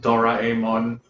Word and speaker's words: Doraemon: Sorry, it's pronounced Doraemon.